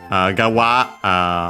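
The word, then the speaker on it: 側: Gawa, as mentioned also by the plugin online dictionary plus plugin combination, becomes unaccented. Regardless, it means side.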